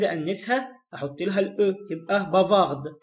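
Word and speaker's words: bavarde: احط لها الاو تبقى بافارد، وهنا طبعا حرف الدي هيتنطق عشان ما عادش اخر حرف، بافار بافارد.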